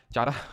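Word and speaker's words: Chara: example की अगर बात करेंगे तो स्पायरो गैरा यूलो फ्रिक्स उलवा और चारा इसके क्या हैं चारा तो बोल देना वैसे कारा इसको प्रोनाउंस करते हैं ठीक है चारा सुनके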